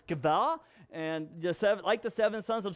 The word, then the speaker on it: Sceva: Seven sons of Sceva, yes, that's actually pronounced Sceva, not Sceva or anything like that, it's Sceva, and the seven sons of Sceva, a Jewish chief priest, were doing this.